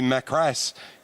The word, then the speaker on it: Macris: Well, Pete was quite happy for me to pronounce it either way that I wanted to pronounce it, but he said maybe Macras is the correct pronunciation.